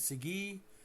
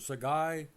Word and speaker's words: Segui: So in Canada we pronounce his last name as Sige or Sagai but across our nation he was always called that guy that did well with everybody Diego Sige.